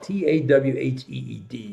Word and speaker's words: Tawhid: It's called the finger of Tawhid. Tawheed is the English pronunciation, Tawhid.